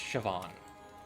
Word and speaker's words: Siobhan: Shoan. Siobhan. It's pronounced Siobhan.